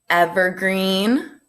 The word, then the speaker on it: evergreen: Evergreen. What do you think? That one's another tricky one, right? It has a short E in the beginning, evergreen, but a double E at the end, so it's long.